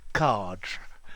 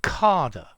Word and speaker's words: cadre: a frame and there's no accent on the final e so cards yeah although i've heard a lot of british people say carder yeah which is also possible and i've also noticed that the americans say cadre okay so we've got cardra as i would say it um carder or cardrae yeah um i think probably